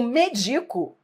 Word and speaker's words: medico: O medico, que é o verbo medicar, é paroxítono no seu presente do indicativo. Medico.